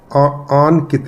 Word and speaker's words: आनकित: तो नाम की प्रोनाउंसिएशन वैसे ही फिर करनी चाहिए, आनकित, आनकित। अब आपका नाम हो गया आनकित, पुराने ज़माने में ये नाम होता था अंकित, आनकित। तो प्रोनाउंसिएशन भी वैसी ही करनी चाहिए, तब जाकर ये नाम का प्रभाव आएगा।